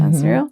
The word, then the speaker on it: Azrael: Is that how you pronounce it? Azrael?